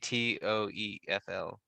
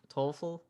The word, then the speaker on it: TOEFL: do you pronounce that i keep saying t-o-e-f-l score yeah you can say i know that's a different score or 12 toefl oh you can say t-o-e-f toefl yeah you can say